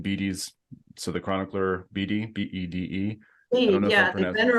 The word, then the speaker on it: Bede: I call him Bede. I don't know, whatever. In French, it's bed.